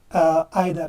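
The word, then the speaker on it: either: अब नेक्स्ट है आइदर, या इधर पढ़ो या आइदर कोई बात नहीं, दोनों प्रोनाउंसिएशन ठीक है।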